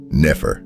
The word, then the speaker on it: nefer: It is pronounced Nefer, and its meaning is beautiful.